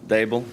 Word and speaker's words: Daboll: it's Daboll. D like table, Daboll.